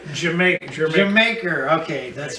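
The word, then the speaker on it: D'yer Mak'er: the only one what you call it your your maker Jamaica Jamaica okay that's right pronounce it I have this at seven you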